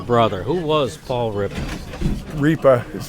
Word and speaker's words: Riippa: Riippa is how you pronounce the last I'm sorry.